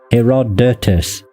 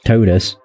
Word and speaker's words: Herodotus: Herodotus, not totis.